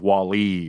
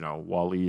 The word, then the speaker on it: Wall-E: I've never heard anybody emphasize the E in a Wall-E. It's Wall-E. Oh, should it be Wall-E? Sorry, Wall-E. So you emphasize the wall.